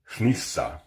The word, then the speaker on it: hnissa: Old Norse word of the day, hnissa, meaning porpoise. It is an example of the voiceless N that exists in Old Norse. That's spelled HN.